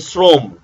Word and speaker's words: শ্রম: রয়েছে পাঁচ নাম্বার শব্দের প্রথমে অ ধ্বনি যদি র ফলা যুক্ত হয় র ফলা তাহলে সেটাও ওর মত হয় যেমন শ্রম এখন শ্রম শ্র এর মধ্যে র ফলা যুক্ত হওয়ার কারণে অটা ও হয়ে যাবে ভ্রম ইত্যাদি ভ্রম আচ্ছা